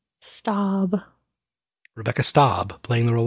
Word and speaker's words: Staub: Stab? S-T-A-A-B. Oh. How would you pronounce that? Stab.